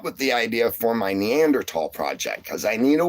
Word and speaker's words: Neanderthal: So, yeah, the the H is silent. It took me a long time to get used to saying Neanderl as well.